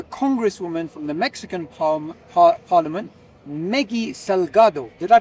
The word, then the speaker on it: Meggy Salgado: Today I'm going to have an interesting conversation with a congresswoman from the Mexican Parliament, Meggy Salgado. Did I pronounce that correctly?